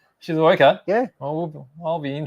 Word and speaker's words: Shizuoka: Shizuoka?